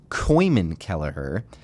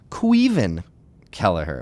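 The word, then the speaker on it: Caoimhín Kelleher: you've shown me that my pronunciation of our new starting goalkeeper uh formerly known as Coan kellerer uh his name is quen ker okay now I did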